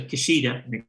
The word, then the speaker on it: Kishida: new prime minister of uh japan uh probably kishida that's what it's pronounced uh created the first minister for economic